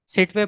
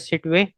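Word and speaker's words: Sittwe: आई am pronouncing it एज़ सिटवे। It seat.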